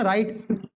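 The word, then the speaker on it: write: pronunciation करते हो क्या जब डब्लू और आर आता है तो आप लोग केवल आर का प्रोनाउंस करते हो ना कि पूरा डब्लू का राइट नहीं पढ़ते इसको ठीक है उसी प्रकार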